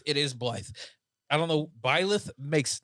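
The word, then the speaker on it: Byleth: sorry I look at it it's it reads life it is Blythe I don't know piloff makes no sense to be phonetically whatever I know phonetics don't work with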